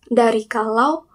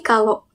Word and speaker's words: kalau: Nadya Omara menjadi kalau dengan mengubah bunyi vokal diptong au menjadi bunyi vokal O dari kalau menjadi kalo.